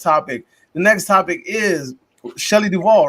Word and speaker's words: Shelley Duvall: to the next topic the next topic is Shelley Duvall right that's how we say her name Shelley Duvall I mean Shelley Duvall the iconic the iconic co-star of The Shining